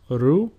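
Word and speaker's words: Ρο: Ro, which is pronounced ru, and a sample word is ρύζι, which means rice.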